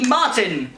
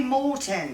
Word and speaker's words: Morton: and it is for kelly martin well done you're getting a holland gift set kelly kelly morton morton sorry kelly moore kelly morton i'm i'm morton and i got the name wrong holland barrett i'm i'm